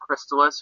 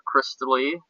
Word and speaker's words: Crystalis: had an argument about whether it's pronounced Crystalis or Crystally? Well, I mean, Crystalis, sorry. It's Crystalis or Crystalis. Yeah. Pronounce it Crystally. It ends Like it's French? like Fleur de Lis.